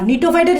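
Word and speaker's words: Gnetophyte: Example খুবই গুরুত্বপূর্ণ, example মাথায় রাখবা, এক্সাম্পল হচ্ছে নিটাম, এক্সাম্পল হচ্ছে কি নিটাম, জিটা উচ্চারণ হবে না, নিটোফাইটের যেরকম জি উচ্চারণ হয় না, নিটোফাইট নিটামের কি উচ্চারণ না, জি উচ্চারণ হয় না।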